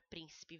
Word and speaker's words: príncipe: Olha a palavra príncipe, vamos chamar o príncipe? Príncipe, então o prim é mais forte.